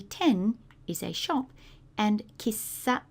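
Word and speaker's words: 喫茶: is a shop and Kissa sounds like a kisser uh now we generally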